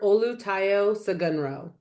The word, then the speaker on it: Olutayo Sogunro: Olu Taio Sagunro.